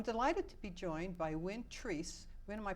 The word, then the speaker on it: Win Treese: Wayland Massachusetts I'm delighted to be joined by Wynn trees when am I pronouncing that correctly yes you are okay good